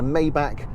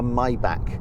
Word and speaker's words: Maybach: car now of course in the pronunciation wars there's still the question of whether it's a maybach or a my back or a my back i tend to flick between maybach and my back i'll try and use